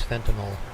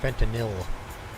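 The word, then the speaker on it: fentanyl: Uh our biggest problem here is um Chinese fentinel. That's our biggest problem currently or fentinil proper way of producing pronouncing it.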